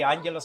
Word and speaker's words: Angelos: Yeah, it's a little bit tricky because it's difficult to pronounce the double G, but yeah, let's say Angelos. Angelos, I mean, what suits you better?